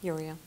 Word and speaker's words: Uriel: there cool all right archangel Uriel that's how you say it Uriel yeah Uriel means bringer